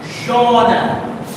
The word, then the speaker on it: genre: The pronunciation, now this is a French word, which is part of English vocabulary. And the pronunciation is genre.